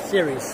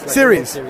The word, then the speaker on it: Ceres: All right, I'm with Zach Schein from, how do you pronounce it, CERES? CERES. CERES.